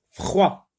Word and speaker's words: froid: Froid. C'est un autre mot d'une seule syllabe. La lettre D est une lettre muette. Fr avec quoi ça se lit froid.